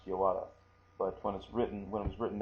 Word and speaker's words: yawara: So sometimes when you see that, it's pronounced yawara.